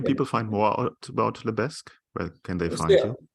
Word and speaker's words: Lebesgue: Where can people find more out about Lebesk? Where can they find you? App is available on Shopify App Store, so you can just Google Lebeg Smarter Marketing. Lebeg is spelled LEBESGUE, something like that.